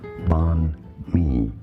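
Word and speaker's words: Bánh mì: Banh mi.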